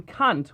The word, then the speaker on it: Kant: you are kant unfortunately due to his correct german pronunciation the name kant was mistaken for vulgar epithet and poor sydney morgan